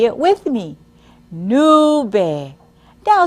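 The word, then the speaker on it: nube: Spanish for cloud is Nu listen as I pronounce it again nu nu now say it with me new now say it by yourselves Amigos most of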